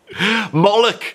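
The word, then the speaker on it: Moloch: Mollock. You know what Mollock rhymes with? Yeah. Bollock.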